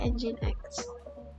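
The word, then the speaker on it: nginx: imap dan engine X Oh bacanya engine X di ini sa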